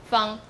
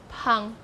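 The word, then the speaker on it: 芳: But in Taiwanese Southern Min, you pronounce it as Pang, initial P. But in Mandarin, you say Fang, initial sound is F.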